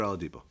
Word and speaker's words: Oladipo: kid that plays for Indiana Oladipo Oh Victor Oladipo am i pronouncing it right yeah imagine imagine having him